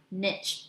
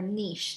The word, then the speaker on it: niche: So again, the organisms that live in the Chesapeake Bay have a very specific niche or niche, depending the British or the American pronunciation, because it has to